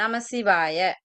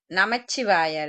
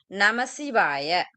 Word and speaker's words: நமசிவாய: பொதுவா நாங்க சொல்றது இந்த தூள பஞ்சாட்சரம் நமசிவாய நமச்சிவாய இல்ல நமசிவாய சரியா அடுத்து சூக்கும பஞ்சா சிவாய